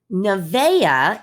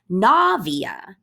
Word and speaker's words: Navia: you're laughing at home and navia nevaeh is how some people pronounce this nevaeh and i know navia that you have had people mispronounce your name for that reason i think i did it too but her name is different than nevaeh because she puts her emphasis on the gnaw navia and just the simple emphasis is what changes the pronunciation so words have their